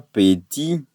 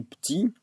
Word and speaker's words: petit: On ne dit pas petit, mais on dit petit parce qu'il y a le E muet.